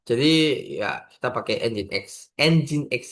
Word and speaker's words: Nginx: Nginx ya, bukan Nginx. Orang-orang kan ada yang ngomong Nginx gitu. Ya, itu kurang lebihnya kan salah sih, tapi ya lucu aja gitu.